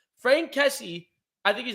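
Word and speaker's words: Franck: you say f-a-r n-c-k so it's probably like frank okay either way um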